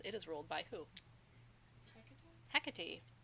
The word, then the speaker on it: Hecate: is ruled by who Hecate Hecate huh catty not he cat he Kate you